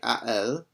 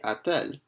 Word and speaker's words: a-t-elle: And here we add in a T between a and elle, and the reason why we do that is just because it makes it easier to pronounce it. It's much more challenging to say a elle than it is to say a-t-elle. A-t-elle has a bit nicer of a flow to it.